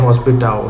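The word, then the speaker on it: hospital: हॉस्पिटाओ तो आपको पता है, हॉस्पिटल की स्पेलिंग सेम है, उसको पढ़ते हैं हॉस्पिटाओ है।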